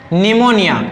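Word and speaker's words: pneumonia: saiflogy ये क्या है निमोनिया ये क्या है निमोनिया देखो न का कांबिनेशन है यहां पर ठीक है तो यहां पर पी क्या है साइलेंट ठीक है तो इसी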